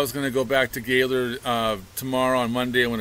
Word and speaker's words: Gaylord: But she was raised down by Grand Rapids, and so she keeps saying Gaylord with a spelling pronunciation. But everyone says Gaylord, Gaylord, right?